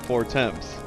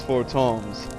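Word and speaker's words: Fortemps: that pronounced i've been pronouncing it the way it's spelled for temps but it's for toms yes this part he talks about your muscles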